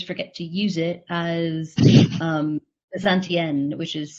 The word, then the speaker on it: Bezantienne: And I am on Instagram, but always forget to use it as Bezantienne, which is spelled Bezant and then the French feminine ending.